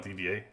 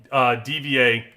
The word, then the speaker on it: D.Va: And by the way, for my purposes, I call it DVA. Everybody say Diva. I say DVA. I don't know. I always did.